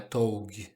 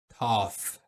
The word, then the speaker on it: tough: Tough é a pronúncia, não é tog. Tough.